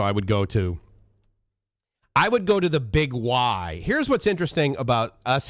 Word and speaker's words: Big Y: First of all, you look at it and you're like, okay, Biggie, right? I mean, B-I-G-Y. How do you pronounce that? Biggie, but no, it's Big Y.